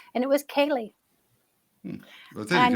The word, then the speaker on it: ceilidh: I don't think that's really a name, but I like them together, these syllables. And it was Kaylee.